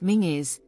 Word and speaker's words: Menzies: site it is today the menes clan pronounced mingis played a prominent role